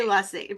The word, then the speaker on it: Luesse: It rhymes with fussy. Just remember fussy Lesie, but don't be fussy.